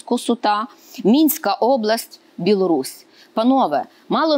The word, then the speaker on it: Косута: Пилип народився 11 жовтня 1672 року в селі Косуті, наголос саме такий. Для мене це також відкриття і дуже цікаво, чому саме такий наголос Косута.